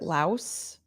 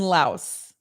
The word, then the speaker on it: Laos: And is that how I pronounce that? Is it Laos?